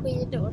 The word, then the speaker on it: skidor: Stavas det skidor fast det heter skidor? Ja. Skedjudet, det får ni lära er i skolan sen. Men sjuk är också ett skedjud, men det stavas SJ. Sjuk och skidor uttalas ju samma.